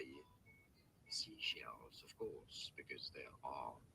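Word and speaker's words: Seychelles: Say shells. Yeah, I think it's say shells. The name of these islands, how do you say it? Seashells.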